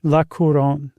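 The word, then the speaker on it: La Couronne: Uh, how do you pronounce that, Josh? Laoron. Lacoron, which is the Crown.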